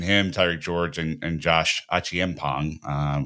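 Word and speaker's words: Acheampong: Between him, Tyreek George, and Josh Achiempong, which is the better way to pronounce it than what I was saying earlier, these are the next three, right, that are pretty clearly going to come through.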